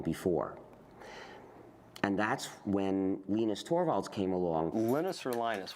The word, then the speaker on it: Torvalds: it not long before and that's when Lenus Torvald came along. Linus or Linus? What's the exact your preferred pronunciation?